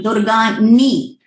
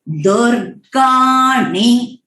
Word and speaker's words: दुर्गाणि: सो it will be सनफ पर्षदति दुर्गाणि, यहाँ पे है दुर्गानी, न, इट इज नॉट दुर्गानी। ये प्रोनाउंसिएशन जो है न का बहुत एकदम स्पष्ट से आना चाहिए। सो इट इज दुर्गाणि।